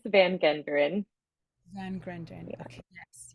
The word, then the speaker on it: van Genderen: name handle is Kris Van Grunden. Yes, sorry if I pronounced your name incorrectly. Yes. Oh, it's okay. I know it's long and it's Dutch. It's Kris van Genderen.